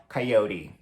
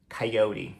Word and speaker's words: Coyote: A gente só pronuncia um pouco diferente, o O tem um som mais aberto e a gente fala Coyote. Coyote, né? Então, Coyote.